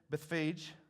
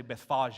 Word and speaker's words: Bethphage: As he came to the towns of Bethphage, and yes, that's pretty close to the pronunciation. I looked it up. I didn't want to say Bethphage in front of y'all. I thought that would be, y'all would judge me.